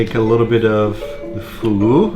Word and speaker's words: fugu: S: In Japan it's pronounced Fugu, but, in Yamaguchi, it's pronounced Fuku because fuku is another word for happy.